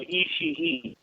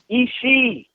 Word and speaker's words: Ishii: Access show call them Ishii. It's Ishii. You don't need the third Ishii. syllable. Ishii. Okay. No third It's syllable. not Ishii.